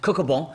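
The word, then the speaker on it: Cocobon: I just have to say it like it's French. Coco Bon. Coco Bon.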